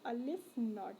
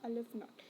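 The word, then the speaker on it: aleph-naught: की जाती है और उसको हम प्रोनाउंस करते हैं अलिफ नॉट, है अलिफ नॉट।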